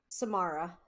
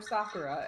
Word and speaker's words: Samara: I can never pronounce her name right. Samara. Thank you. I keep wanting to call her Sakura, and I'm like, that is a cherry blossom.